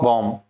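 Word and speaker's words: bomb: बॉम्ब।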